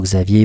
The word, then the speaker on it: Xavier: Euh les bons médiums, hein, certains comme Chico Xavier par exemple, Ravier si vous le prononcez à la brésilienne, euh on peut définir